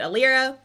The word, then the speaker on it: Alyra: together and you get it should be a Lyra but the library just sounds way too strange so we're pronouncing it a Lyra and that is basically